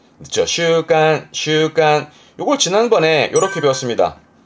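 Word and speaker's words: 習慣: 발음은 그렇죠. 슈간, 슈간.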